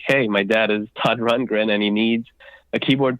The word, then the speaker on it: Rundgren: Rundgren, is that right?